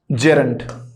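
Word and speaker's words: gerund: जेरंड की बात कर रहे हैं कि जेरंड किसे कहते हैं। पहली बात तो ये जिरंड नहीं है, तो हमें प्रोनाउंसिएशन का भी बहुत अच्छे से पता करना है।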